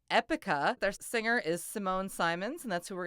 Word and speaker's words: Simone: take a look at in some languages like Dutch and German when we have a name that ends with e pronunciation is actually Simona or Diana or Sabina just forgive me I'm gonna be using the English pronunciation of her name it's a little bit easier Simone is a wonderful